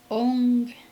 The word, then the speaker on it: ong: a very important distinction it's ong with it's spelled o n g not o m um and it's ong